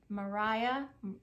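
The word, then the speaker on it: Mariya: up on YouTube m-a-r-i-y-a Mariah it looks like Mariah but it's Maria Maria's story from mess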